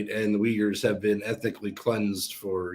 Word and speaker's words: Uyghur: you pronounce that word i always thought it was uh hygge it's uh uyghur uyghur yeah they are an